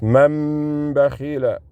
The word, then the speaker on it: من بخل: It's man bakhila. Man bakhila. That's how you integrate it. Man bakhila. See, the noon is silent. That's what noon sakin means.